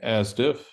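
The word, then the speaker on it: ASDF: to talk about uh the advanced science data format which we pronounce as asiff and to just give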